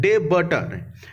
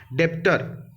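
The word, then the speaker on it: debtor: देखिए B silent होता है, डेबटर, डेप्टर, ठीक है।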